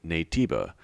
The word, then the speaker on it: Naytiba: and adopt the name nativa it actually worked out because shiftup just spelled out in English letters the way native phonetically sounds in Korean in my opinion this